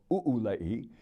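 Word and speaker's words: ʻūlei: of the Olay or ulei it is pronounced as if there were an okina at the end according to the Hawaiian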